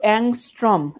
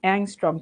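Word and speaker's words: angstrom: এটার উচ্চারণ কিন্তু অ্যাংস্ট্রম। অ্যাংস্ট্রম।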